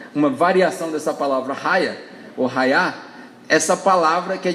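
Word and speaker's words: היה: palavra que em hebraico se estiver pronunciando certo fala-se Raia h a y a é a transliteração dessa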